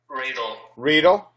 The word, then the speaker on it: Riedel: Is it Rydell or is that? Am I saying it right? Riedel.